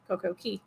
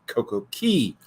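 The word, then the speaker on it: CoCo Cay: that Saturday going uh going to Coco K CoCo Key CoCo Key it's spelled like K but it's pronounced key I'll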